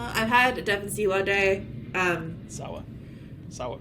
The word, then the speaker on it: Sawa: And that brings us to Daddy Devon Siwa. I've had Devon Siwa Day. Sawa, right? It is Sawa. I just said Siwa because I just decided that that's how you say his name now.